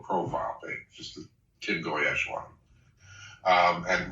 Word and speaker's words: Goyetche: Only if you pronounce it right. Oh, okay. Sorry, say it. Goyetche.